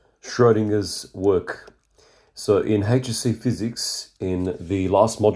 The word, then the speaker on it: Schrödinger: So Owen Schroinger pronounced Schrodinger was an Austrian Irish theoretical physicist.